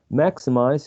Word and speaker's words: maximize: Maximize has 3 syllables, and the first syllable is stressed.